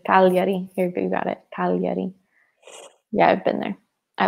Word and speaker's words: Cagliari: Cagliari.